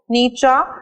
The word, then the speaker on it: Nietzsche: Now, you guys need to know that it's Nietzsche, not Nietzsche.